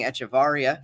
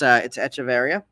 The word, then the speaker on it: Echeverria: And Brian corrected my pronunciation. I've been saying Echevarria. Now I know it's Echeverria.